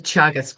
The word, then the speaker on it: Teagasc: And the organization is Chagus. So it's spelled T E A G A S C.